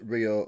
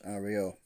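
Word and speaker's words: REO: which was RI and although the name of the company was his initials it was always pronounced Rio and not Ario so Mr pickin's new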